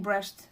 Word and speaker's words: Brecht: brush play and yes I'm saying brushed and not bre cuz in my language we say BR in Portuguese and also he was from Germany and BR is much closer to the way they pronounce it something like this the man that thought